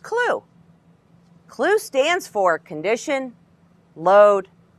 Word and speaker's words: CLU: A simple way to remember the 4 steps is C, L, W, E, pronounced CLU.